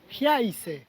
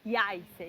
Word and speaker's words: Jajce: Llegamos a esta ciudad llamada Jajce. Jajce. La J se pronuncia como una Y, me parece. Jajce.